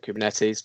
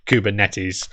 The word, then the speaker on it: Kubernetes: yeah me too yeah it's a greek word it comes from ancient greek i think um and uh the the greek people that i've spoken to about this pronounce it kubernetes so uh we should